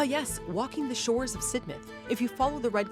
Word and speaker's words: Sidmouth: at this beauty yes it looks like sidmouth but it's pronounced sidmouth and it has great Vibes this is one